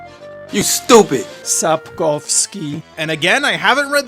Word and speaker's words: Sapkowski: as we keep telling great stories which honor Sapiciwikis." The guy who made The Witcher. Oh, I looked it up, it's pronounced Sapowski. You stupid! Sapkowski.